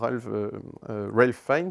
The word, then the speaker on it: Ralph Fiennes: Et cet amant, donc, interprété par Ralph Fiennes, c'est comme ça qu'on prononce son nom, eh bien, lui, il va